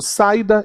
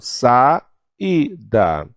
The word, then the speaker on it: saída: a irmã Olha aí saída eu não digo saída eu falo sa e da poético saúde ciúmes ano